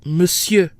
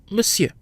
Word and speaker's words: Monsieur: should be pronounced on share in reality it's pronounced Monsieur the mo n sounds like mu M plus the fridge e and the second syllable is pronounced here so Monsieur let's talk about the combinations you in and